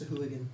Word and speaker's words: sahuagin: I really hate that their name is just Say Who again. Mm-hmm. Was that I on purpose, like, do you think? Jack hates that pronunciation. I think he calls them like sahuagin or something like that. Yeah. But sahuagin. The official pronunciation is sahuagin, so.